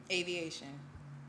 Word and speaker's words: AVEEATION: in your business uh pronounce it for me aviation like a plane yeah like you out